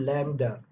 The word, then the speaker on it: lambda: This is called lambda. LAM, lambda. B or D, B is there or not, I don't know. So lambda, children. Lambda. In pronunciation, it is lambda.